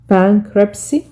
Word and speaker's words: bankruptcy: Bankruptcy، التي هنا silent لا تنطق.